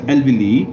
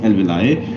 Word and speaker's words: alveoli: are called as alveoli in some books the pronunciation is mentioned as elvili but the most acceptable pronunciation is alveoli and singular is called